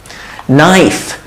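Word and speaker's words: knife: নাইফ, এখানে দেখেন আর এখানেও কেটা সাইলেন্ট, কেটা উচ্চারণ হয় না। এটা দেখে মনে হচ্ছে না নো হবে, কিন্তু না, কেটা সাইলেন্ট। Alright, so নো। তারপর এখানেও নাইফে দেখেন কে আসছে, কিন্তু কেটা উচ্চারণ হয় না, জাস্ট এন থেকে উচ্চারণ হয়।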